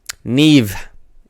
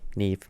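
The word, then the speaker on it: Neave: Neve. N-E-A-V. Neve. Which is not how you spell Neve, but she's doing it phonetically so people can actually pronounce her name.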